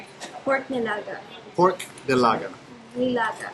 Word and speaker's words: nilaga: Nilaga. Lilaga. I'm not going to say it right ever. Nilaga. Nilaga. There you go. With an N, okay.